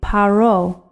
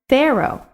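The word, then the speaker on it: פרעה: one of those letters in this case the pay is making the hard sound paro if it were making the soft sound we would pronounce it pharaoh but in the hebrew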